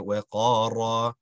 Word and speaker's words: وقار: وَقَارَ, the ra is pronounced nicely, nice, awesome sound.